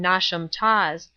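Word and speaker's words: Knotacentinum Towers: place on and around not a sentinel towers pronounced as if written nauseam toss the seat of the Lord not assent pronounced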